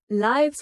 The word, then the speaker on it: lives: It's pronounced like wives with a long i sound there. Lives were fulfilling the accident changed their lives forever.